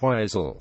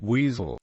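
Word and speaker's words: Weisel: first series featured Frank wiisel Hacker's political advisor the first syllable of his surname is pronounced wise but Sir Humphrey and Bernard persistently call him weasel wisel does not appear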